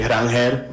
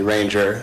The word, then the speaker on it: Ranger: So, my name is actually Ranger, but however you guys want to address me, Ranger is how most people do, so I'm comfortable with either.